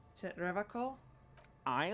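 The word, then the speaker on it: Revachol: his feet he pronounces rivercon with a hard k unlike other people is it revocal i like to pronounce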